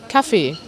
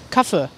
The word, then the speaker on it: Kaffee: Und normalerweise spricht man es so aus, der Kaffee, der Kaffee. In manchen Regionen hört ihr auch manchmal ein kurzes E und dann heißt es einfach so Kaffee, Kaffee, hört man auch manchmal.